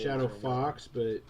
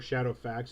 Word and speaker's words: SH80FX: And pronounced Shadow Fox, or Shadow Fax if you're Elizabeth Neal and the LARPs crew, because that's just fun.